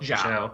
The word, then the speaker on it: Xiao: Xiao? Zhao.